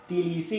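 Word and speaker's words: Tbilisi: Country is Georgia and the capital is तिलीसी। इसको तिलीसी pronounce करना है।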